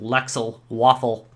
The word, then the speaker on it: Lexaloffle: fantasy 8-bit console made by Lux Lux Alexa LexA lawful games I'm gonna get it right one of these days it's gonna happen that's told on Twitter that it's that they pronounce it Lexel waffle so LexA lawful games anyway uh the console